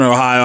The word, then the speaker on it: Ohio: He already mispronounced the name of my town. It is Cadiz, Ohio. It's Cadiz, Ohio.